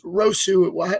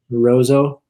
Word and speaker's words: Roseau: state tournament um you played for i'm gonna pronounce wrong i always said it was rosu what school did you go to roso rosa wow too many too many parks that